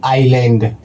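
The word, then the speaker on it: island: आ गया तो ये दोस्तों हो जाएगा एस साइलेंट। यानी कि इसको पढ़ते वक्त पढ़ेंगे दोस्तों आइलैंड।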